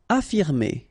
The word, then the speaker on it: affirmer: Affirmer. Okay, even if we've got two F, well, only one should be pronounced, so affirmer.